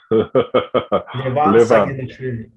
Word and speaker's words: Levan Saginashvili: Levan Saginashvili.